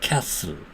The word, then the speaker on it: castle: 예를 들면 castle, castle, T가 완전히 소리가 안 나죠. castle, listen, T가 소리가 안 납니다. listen, castle, listen. 이렇게 castle과 listen과 같은 단어에서처럼 T는 발음되지 않습니다.